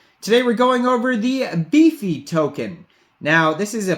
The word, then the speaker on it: Befe: If you think about it, it should be Befe. It could be pronounced that way, but the Pepe here is a beefy, very beefy, so it's safe to assume that the token's name is Befe.